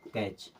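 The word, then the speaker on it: catch: मतलब टी यहां से खत्म अब इसे पढ़ेंगे कैच क्या पढ़ेंगे कैच M eighty C एच टी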